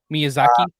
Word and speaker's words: Miyazaki: And how do you pronounce the the creator's name again? Miyazaki.